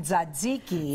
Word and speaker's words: tzatziki: All right, what are we making today, and how do you pronounce it? We are making tzatziki.